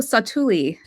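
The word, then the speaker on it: Satu'li: And what do you call how do you pronounce the name of the canteen that's that's in Pandora? Oh, Satuli.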